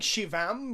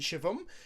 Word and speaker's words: Shivam: I keep saying Shivam, but it's actually Shivam.